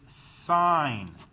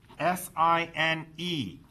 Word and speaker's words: sine: The proper name for this is sine, S-I-N-E. We shorten it to S-I-N. You do not pronounce this as sin. This is sine.